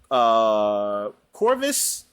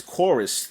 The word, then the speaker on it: Chorvs: Another game I played was Chorvs, and I think it's pronounced as Chorus though.